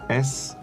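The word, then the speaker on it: sarnie: the slang 4 sandwich we say it's like s-a-r-n-i-e sarni barney see i've heard sammy before but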